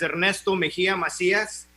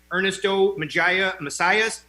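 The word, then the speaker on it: Ernesto Mejía Macías: is ernesto mejia macias if you can't roll your r's like i can you can call me what my kindergarten through sixth grade teachers called me ernesto magia messiahs same dude it's the same cat we'll be here with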